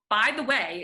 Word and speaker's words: Bytheway: way first of all by the way is my actual last name which is super fun um it's pronounced just the way it is spelled it's a prepositional phrase i i have so